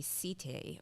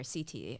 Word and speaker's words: setae: The fuzz that you're seeing all over the crab is the setae, or setae as some pronounce it.